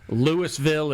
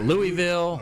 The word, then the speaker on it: Louisville: Of course, Lewisville is Lewisville. It's not Louisville.